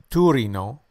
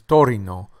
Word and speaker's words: Torino: This city is sometimes mistakenly pronounced as Torino, as opposed to its correct pronunciation as Torino, Torino, Torino.